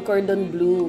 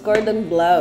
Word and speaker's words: cordon bleu: doon Akala ko noon Cordon blue No it's Cordon blous It's a French dish tapos the spelling is